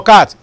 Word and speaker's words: cat: There's no C in cat. This is they are missing the letter with the pronunciation, the sound. It is a k that we are saying, and therefore it is k here. K in cat.